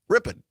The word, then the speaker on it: Ripon: And also our great partners, WRPN in Ripon, or as the locals say, Ripon.